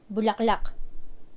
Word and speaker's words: bulaklak: like the longest conversation in Filipino using one syllable bulaklak flower Okay next is bulaklak meaning flower for